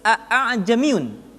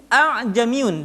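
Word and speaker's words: أَأَعْجَمِيٌّ: cetakan Timur Tengah ditulis a'jamiyun dengan hamzah kedua dikasih bulatan hitam. Perhatikan cara membacanya. A'jamiyun wa 'arabi. Jadi tidak dibaca a'jamiyun atau a'jamiyun, tapi hamzah kedua dibaca dengan suara yang samar.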